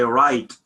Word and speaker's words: write: So W, when we say write, W is silent, but we need it for what? For spelling.